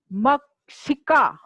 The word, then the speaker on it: मक्षिका: बोलिए, मक्षिका, बार बार बोलेंगे, उच्चारण आपको करना आ जाएगा। मक्षिका। अब साथ में बोलिए, एषा मक्षिका। ठीक है, शतरंग्या बोलते ना, कक्षा, कक्षा, वैसे मक्षिका, छिका नहीं बोलेंगे, मक्षिका।